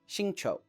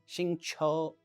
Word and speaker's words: Xingqiu: It's Xingqiu. Xingqiu.